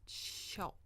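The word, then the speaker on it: 鞘: So in that context, 鞭 shao is pronounced shao, not qiao, like it is when you're talking about sheaths and scabbards for swords and knives.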